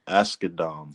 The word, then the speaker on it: Asghedom: Asghedom.